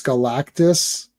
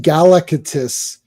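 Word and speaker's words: Galactus: I could not pronounce Galactis like for the life of me. We kept saying Galacatus like we we we we stress the wrong syllables like it was like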